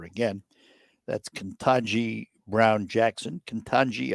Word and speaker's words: Ketanji: Ketanji, I think is the way you pronounce it, Ketanji Brown Jackson.